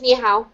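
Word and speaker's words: 你好: to say hello in Chinese in Mandarin it's niow I love this okay um so CH or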